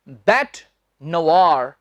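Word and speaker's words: bête noire: इसका उच्चारण है बैट नवार। NOIRE को आपने नोआयर नहीं कहना। देखने में लगता है ना नोआयर, नोआयर नहीं, इसमें व की आवाज आएगी।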